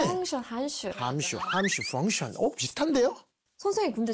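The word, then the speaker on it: 函数: 펑션, 한슈.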